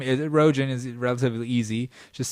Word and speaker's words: Rogin: There's absolutely much more Joe Rogan in me than Seth Rogen, me, Rogin, with a name spelled with a G, so people pronounce it Rogan all the time, so you can see the dilemma.